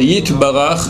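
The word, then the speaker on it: יתברך: Faudra faire attention de bien prononcer le Yud. Bakulam, Yit, c'est un Y, d'accord? Yit Barach, Veit Romam, Veit Nase, pas Veit Nase, c'est faux.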